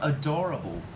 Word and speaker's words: adorable: And just remember that we put the word stress in the second syllable. It's got adorable.